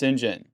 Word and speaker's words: St John: reason why it's pronounced sinjin is because uh it kind of goes back to uh norman french origin so they would used